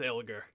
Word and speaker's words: Elgar: I'm assuming I'm pronouncing that correctly. Yes, it's Elgar.